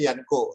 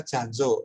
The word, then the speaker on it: Jancox: yang mereknya itu Yanko, sebenarnya tulisannya itu JANCOX. Jadi JANCOX itu dibaca sebenarnya Yanko, tapi orang lidah Jawa membacanya Janjo.